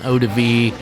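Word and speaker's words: eau-de-vie: In French it's called an odiv.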